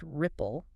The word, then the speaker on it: RIPO: Yes, pronounced Ripple.